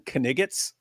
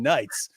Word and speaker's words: knights: Oh, they're pronouncing knights, but they're pronouncing it how it's spelled.